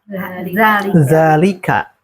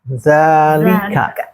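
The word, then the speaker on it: ذلك: Secara tulisan dzanya itu tidak ada alif ya. Iya. Secara tulisan. Kalau dalika, secara tulisan dzaika. Kalau hadza ada dalalika atau yang masyhur ini dipendekkan tapi cara baca tetap panjang bagi yang paham itu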